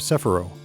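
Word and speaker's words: Cephiro: All three are summoned to the land of Sephiroth, or Sephiro, depending on if you prefer the anime or game pronunciation.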